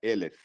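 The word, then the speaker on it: אלף: Só muda a pronúncia, né? Para 1000 fica Elef.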